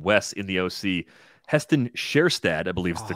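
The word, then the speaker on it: Kjerstad: with uh your bigger brains but it was kirstad is what I would keep saying I think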